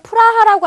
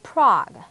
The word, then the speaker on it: Prague: 예를 들면 우리나라에서는 프라하라고 알고 있는데요. 영어로는 다 같이 Prague 이렇게 발음이 됩니다.